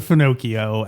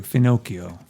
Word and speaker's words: Finocchio: Yeah, Hollywood Finocchio. And my impression is that is a vulgar Sicilian term for a homosexual. That's correct. I looked that up too. Finocchio. Finocchio. Rhyming with Pinocchio.